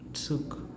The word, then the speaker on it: Zug: So its pronunciation becomes like tsuk, tsuk, tsuk.